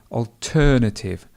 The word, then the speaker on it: alternative: So instead of the word different, you may want to use the word alternative, and the stress would be alternative.